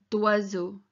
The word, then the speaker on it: d'oiseau: And that bit at the start there, so doi, it's like doi, doi, doi, d'oiseau.